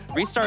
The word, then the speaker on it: Ristar: We also have a $25 donation from Ristar saying, Ristar is pronounced Ristar.